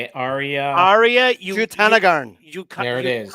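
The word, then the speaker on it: Jutanugarn: Jutanagarn. There it is. Jutanagarn.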